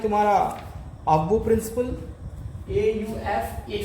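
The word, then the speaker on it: Aufbau: F silent हो जाता है, जब F साइलेंट हो जाएगा AUF BAU, एक ही वर्ड है, AUF BAU, AUF BAU, इसको F साइलेंट करके ऑफ बोह प्रिंसिपल पढ़ते हैं।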